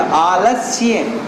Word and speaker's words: आलस्य: संस्कृत के शब्दों को उच्चारण करते समय मेहनत लगती बेटा, आलस्य, वो स्या को बहुत अच्छे तरीके से करना पड़ता है, एनर्जी इन्वेस्ट होती है, आलस, ठीक है ना।